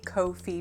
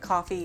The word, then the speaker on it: Ko-fi: Thanks to everyone who has bought me a coffee over on the Ko-fi page. Yes, I'm not calling it coffee because it's not spelled like that.